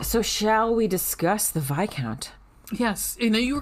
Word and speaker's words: viscount: first guy kept calling him fight discount yeah fizzcount yeah cause it looks like it oops it looks like it uh should be pronounced vizcount this count v-i-s-c-o-u-n-t um but it's vi count and yeah i'm not gonna lie to you